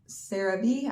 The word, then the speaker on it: CeraVe: Then we've got some CeraVe CeraVe, I believe is how you say it, body wash and shampoo.